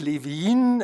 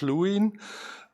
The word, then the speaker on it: Lewin: German area to could live in as we uh pronounce it in German or Kirk Lewin is it is as it is pronounced in English very often could Levine was a